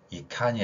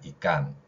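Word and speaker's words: ikan: 그래서 커, 찹 이런 게 아니라 끄찹, 끄찹 그 다음에 이칸이 아니라 이깐 이렇게 발음이 됩니다.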